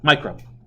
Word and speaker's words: micro: yeah what's it pronounced it's not called mu grams micro okay I'm gonna get